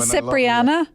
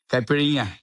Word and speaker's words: caipirinha: Is it Cipriana? Is that from Brazil? Caipirinha. Yes. It's all in the pronunciation.